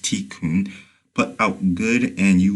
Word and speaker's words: tikkun: in the East karma, and by Kabbalist tikkun, pronounced tikkun, put out good and you will receive good.